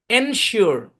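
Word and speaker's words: ensure: শুরুতে যদি এন যুক্ত করেন তাহলে হবে কি? এনশিওর। কি হবে? এন, এটা এন আর কি, এনশিওর, এনশিওর, শিওর, শু, শু, শু, শু, শু, এনশিওর।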